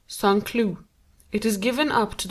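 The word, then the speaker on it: Saint-Cloud: village just outside of Sanu pronounced sanlu it is given up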